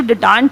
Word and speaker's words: detente: इसे पढ़ते क्या है, detente is the pronunciation of the word. Generally ये जो डिटांट है ये नेशंस के बीच में होता है, कंट्रीज़ के बीच में होता है।